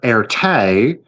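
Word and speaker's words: Erté: So again, Roman de Tirtov was Russian, who went by the moniker Erte, which was the phonetic French pronunciation of his initials, RT, to avoid embarrassing his aristocratic Russian military family.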